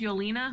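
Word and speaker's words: Yelena: do before we're done yes what her name's yolina what did we say her name was Yola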